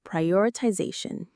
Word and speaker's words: prioritization: This is the skill of prioritization. Let's say it pri or itization. Prioritization. It's a long one. The main stress is on z prioritization.